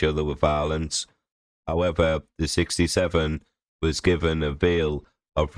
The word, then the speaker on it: 67: The 67 gang, pronounced 6-7, has terrorised people living